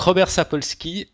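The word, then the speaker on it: Sapolsky: comme Sky le ciel donc ça devrait se prononcer ça mais non ben voilà donc Robert sapolski donc c'est tu tu t'en as déjà entendu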